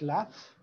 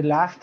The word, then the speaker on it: laugh: the last time you laughed so much you couldn't stop okay so please do this and remember the pronunciation of this word is laugh like if this was an F laugh okay do it and